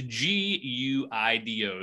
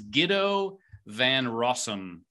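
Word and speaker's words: Guido van Rossum: i'm just gonna go for it this is g-u-i-d-o so and it's all that was not you didn't even try to pronounce it you spelled half of it how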